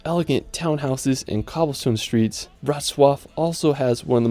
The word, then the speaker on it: Wrocław: Now after, we're going to head over to the beautiful city of Wrocław. It's such a tricky pronunciation. Wrocław is such a charming historical place.